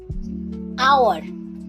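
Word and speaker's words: hour: আওয়ার, এই ওয়ার্ডটিতেও এইচ লেটারটা silent থাকে।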